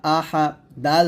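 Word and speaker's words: أحد: আহাদ আহাদ আহাদ আহাদ এখানে আছে আহাদুন হবে আহাদ এর দালটা কলক হবে তো আমার সাথে পড়েন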